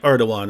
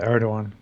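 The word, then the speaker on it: Erdoğan: asked your position on it's spelled erdogan but it's like erdogan right something like that yeah yeah yeah erdogan wait hang on hang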